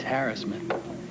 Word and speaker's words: harassment: It's harassment. Stress is on the hair rather than the ass is what they're saying now.